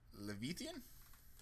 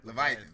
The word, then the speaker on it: Leviathan: uh so the next one is the uh levithan Leviathan Leviathan there there you go sorry my biblical pronunciation is not uh up to standard um